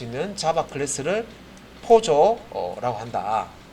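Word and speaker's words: POJO: 그래서 웹 개발에만 국한된 개념이 아니고 포조라고 읽는데 포조 예요 포조가 약자로 플레인올드 자바 오브젝트라고 해서요. 예.요 플레인 올드 자바에서 Poj 요거 합쳐 가지고 포조라고 합니다.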